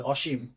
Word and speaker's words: অসীম: আসো এইযে অসীম অসীম এই শব্দটার সঠিক উচ্চারণ কি হবে এই অটা অ এর পরে যেহেতু দীর্ঘিকার আছে এটা ও হয়ে যাবে আর তালাব সয় ম নিচে হসন্ত হবে অসীম এখন এটা কেন হইছে